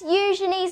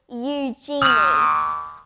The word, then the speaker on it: Eugenie: they're literally so nice time for a princess you Johnny's name is actually pronounced the way I am saying it but I know some people pronounce it Yugi I know this because the princess told me